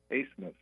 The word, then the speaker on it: Asmus: It's Max, it's pronounced Asmus. Like, I think I read somewhere it's like a German pronunciation, although I don't think he's German.